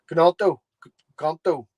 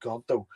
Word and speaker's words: Gnonto: Because as it stands at the minute, the only thing that looks like it's about to happen is Wilfred Gnonto. Wilfred Gnonto. What is it with silent letters?